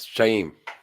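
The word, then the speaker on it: Shauhin: The H is kind of silent. So yeah, it's like a breath. Shame.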